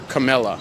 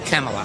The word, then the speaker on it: Kamala: He was saying that 99% of this area is voting for Camilla. Is that how you say it? Kamala. Kamala.